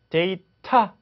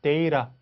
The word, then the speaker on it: data: 그래서 motor 하지 않고 motor, data 하지 않고 data 이렇게 발음되는 거죠.